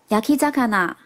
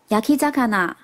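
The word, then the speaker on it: 焼き魚: 烤鱼的日文是念作 yakizakana， yakizakana。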